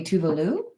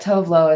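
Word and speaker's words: Tove Lo: I think you say, if you say it correctly, it would be Tuvalu, but Tovlo is how I've always said it.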